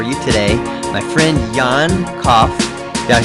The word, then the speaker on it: Koch: The German pronunciation is Koch, but it's quite hard for non-German speakers.